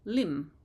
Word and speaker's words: limb: n on the end or limb or climb we don't pronounce a b sound on the end although it's kind of